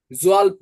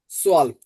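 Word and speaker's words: zwölf: জেডটা অ্যাস বলবেন, অ্যাস। তাহলে ছয়। জোয়াল্প না, সোয়াল্প। জেন না, সেন। জেডটা অ্যাসের মতো উচ্চারণ করবেন।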